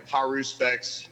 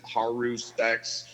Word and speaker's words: haruspex: I mean like as far as like English pronunciation goes it's like haru specs haru specs you know like and